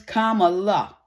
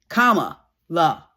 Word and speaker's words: Kamala: Listen, her name is Kamala. You know the punctuation mark in a sentence? That little curvy thing on the bottom of the letters? Curvy? Kamala. So get it right, people.